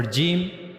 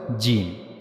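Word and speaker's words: جيم: For gimm we have to use the middle of our tongue and we have to meet the middle of the tongue to the roof of the mouth. So that's how we will pronounce the gene. As you can see here this is the middle of the tongue and it will connect it will meet to the roof of our mouth and that's how we can easily pronounce gene.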